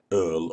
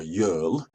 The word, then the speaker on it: URL: URL could be an initialism, or if you pronounce it Earl or Yearl, it's an acronym.